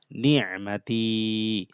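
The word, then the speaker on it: نِعْمَتِ: এখানে আইনটা গলার ভিতর থেকে ভালোভাবে উচ্চারণ করব। তি টান হবে, জেরের পর যজমালা ইয়া মাদের হরফ। ওয়ালি উতিম্মা নি'মাতি।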